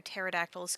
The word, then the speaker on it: pterodactyls: own anyway green pea why can you never hear pterodactyls go to the bathroom really because the p is silent that's that's terrible that